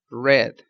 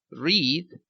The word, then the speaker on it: read: el verbo leer es el verbo read en presente pero se escribe exactamente igual en pasado solo que su pronunciación es red como el color rojo entonces presente read pasado red independientemente de que se escribe